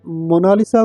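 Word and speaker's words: Mona Lisa: मोना लीजा कहता है लेकिन इटालियन में इसकी करेक्ट प्रोनाउंस एशन है मोना लीसा इसका मतलब है माय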